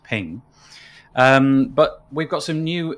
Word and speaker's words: PNG: Maybe it was a PNG, which I believe is pronounced ping.